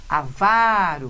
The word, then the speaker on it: avaro: Avaro, palavrinha que nós já vimos também.